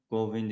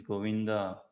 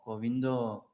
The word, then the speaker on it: Govinda: Uh, it is not Govind, it is Govinda. And Bengalis, those who are proper Bengalis, say they call it out like this Ramo, Govindo.